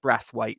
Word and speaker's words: Braithwaite: And although it's spelt Braithwaite, it's actually pronounced Brathwaite, so that's not a typo.